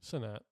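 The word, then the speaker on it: Cenat: How do you pronounce his last name? Sinat.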